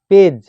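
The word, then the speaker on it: page: দেখো 1 নম্বর, শব্দের শেষে জিই থাকলে জি এর উচ্চারণ বর্গীর জয়ের মতো হবে।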